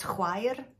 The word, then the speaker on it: chwaer: CH is that sound that you would get. Sister in Welsh is chwaer.